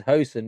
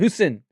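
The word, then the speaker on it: Huijsen: So obviously we know how to say his name easily because it's Housen because we know Dutch. But in Spain, they didn't know how to say his name, so they were calling him Saddam Hussein. They wasn't saying Housen, they were saying Hussein.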